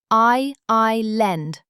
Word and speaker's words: island: Island, six letters. I I lend. The S is silent.